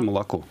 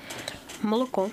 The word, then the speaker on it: молоко: То есть мы очень чётко произносим звук о во всех словах. Никогда его не редуцируем, не говорим такое полуамножечко. Миш, скажи молоко. Молоко.